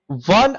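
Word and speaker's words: one: अब बताओ, वन eyed girl, इसको अब ये नहीं कि ओ के हिसाब से आपने एन लगा दिया। हाउ डू we pronounce it? इसको वन बोलते हैं, वन। वन जंगल, वन।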